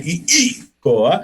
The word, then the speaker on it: Keliikoa: But right now, listen, folks, we're going to bring on Keliikoa. How was that? I pronounced that second I. Keliikoa.